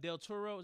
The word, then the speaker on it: Benicio del Toro: Del Toro. That's how you pronounce his name.